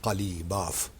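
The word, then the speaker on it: Ghalibaf: रहे हैं साहब, उनका नाम है मोहम्मद बाक़िर कालीबाफ। अच्छा, अब अंग्रेज़ी में जो वो कालीबाफ साहब जो स्पेलिंग करते हैं GH गालिब हो जाता है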